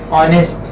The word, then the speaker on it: honest: Honest. Honest, for example. Now here H is silent.